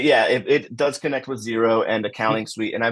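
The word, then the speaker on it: Xero: accounting suite and uh zero but it's expel it's spelled x e r o it does work with zero does work yep does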